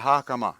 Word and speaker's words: hakama: But I think actually my favorite outfit was the hakama, I think is how it's pronounced. Yeah. Yeah, hakama. Yeah, that's how it would. You'd probably enunciate the A part more if you were actually speaking Japanese, but Sakamoto-san.